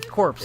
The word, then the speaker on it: Corps: Corpse stands for... It's Green Lantern Corps. Oh, really? Corps. Oh, well, You tried that. I'm pronouncing it Corpse.